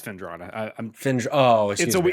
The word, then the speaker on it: Fendrana: I can't speak to Fenandra Drifts, so that's gonna have to be a cog in chat thing. You can't even say it correctly, but you're good. What is it? It's Fendrana.